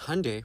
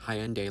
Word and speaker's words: Hyundai: Because Hyundai, pronounced like Sunday, not Hyundai like you're saying, is a Korean company.